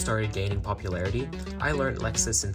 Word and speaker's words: LXS: LXS, pronounced Lexus, stands for Last Extended Slot, and solves the last three pieces of F2L.